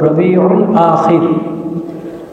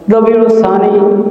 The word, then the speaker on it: রবিউল আখির: 4 নম্বর মাস হলো রবিউল আখির। যদি বিশুদ্ধ আরবি উচ্চারণটা বলতে চান আপনি, সেটা হলো রবিউল আখির। রবিউল সানি লেখা হয়, বলা হয়,